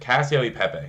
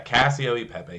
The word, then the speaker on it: Cacio e Pepe: So I believe it's pronounced Cacio de Pepe or D Pepe. Didn't get the D in there. Cacio e Pepe. There we go. Yeah, Cacio e Pepe.